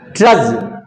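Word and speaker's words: trudge: First meaning is ट्रज। टी आर यू डी जी ई ट्रज। D silent है। ट्रज नहीं होगा। टी आर यू डी यहां D silent है। इसमें ट्रज इसका उच्चारण होगा।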